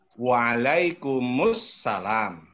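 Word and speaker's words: وعليكم السلام: Tulisannya itu waalaikum assalam. Membacanya waalaikumussalam. Gitu ya.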